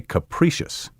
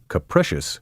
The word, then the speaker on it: capricious: between capricious and caprice don't say capricious capricious should rhyme with delicious word blatant b-l-a-t-a-n-t noisy